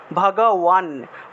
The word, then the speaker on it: ভগবান: কিন্তু আমি যদি ঠোঁট না লাগিয়ে যদি বান উচ্চারণ করি তাহলে উচ্চারণটা কীরকম আসে, ভগওয়ান, ভগওয়ান, অর্থাৎ ওয়ানের মতো উচ্চারণটা আসে, ওয়ান।